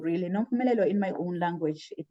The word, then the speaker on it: Nompumelelo: But Nompumelelo, really, Nompumelelo in my own language, it means mother of all success.